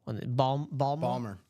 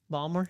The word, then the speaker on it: Baltimore: But yeah, Bob Boulay saying, yeah, Baltimore people don't pronounce the T. Balmer. Balmer.